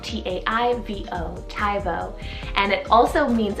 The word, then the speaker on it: Taivo: actually on the boy side is the name taivo it's called t-a-i-v-o taivo and it also means ethereal then for